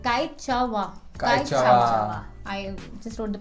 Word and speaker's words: Quechua: तो Kaichawa. I just wrote the pronunciation. Kaichawa.